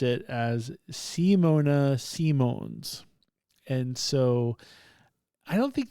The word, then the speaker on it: Simons: I don't know, but I wrote it down and I phonetically wrote it down the way she said it. So Simone Simones.